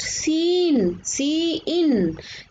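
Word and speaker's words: cin: Identifier seen pronounced seen is a predefined object in C++ that corresponds to the standard input stream.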